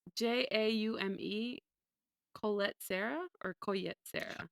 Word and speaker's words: Jaume: I don't know how to pronounce this man's name. Juame? Joanna Man? It's Jaume.